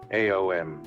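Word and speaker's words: AOM: And the disciple pronounces the mantra AO M. This mantra is pronounced properly by opening the mouth with the vowel A, rounding it off with a vowel O and closing it with the letter M like this.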